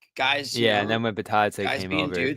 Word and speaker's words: Bitadze: Well, what happened was Bitadze, right? That's the pronunciation.